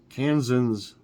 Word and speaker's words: Kansans: Kansans, well, that's how you say it, Kansans, stay safe from lightning this weekend.